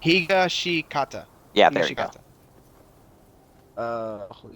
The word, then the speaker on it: Higashikata: Can't pronounce that last fucking name. Thank you. Hishigashikata. Higashikata.